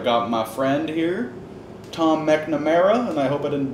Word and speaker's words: McNamara: Mcnamara. There you go. Because I never pronounce your last name. Yeah, I know. It's MC, but you got to go Mac on it.